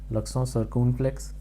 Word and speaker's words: l'accent circonflexe: This is l'accent circonflexe.